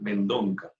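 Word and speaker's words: Mendonça: que se llama Daniel Mendonca. Es como una especie, el apellido es una especie de Mendoza, pero se escribe Mendonca.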